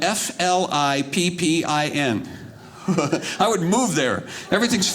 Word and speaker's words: Flippin: in arkansas in arkansas name of the town is spelled f-l-i-p-p-i-n i would move there everything's funny at that